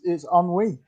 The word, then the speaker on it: ennui: It's ennui.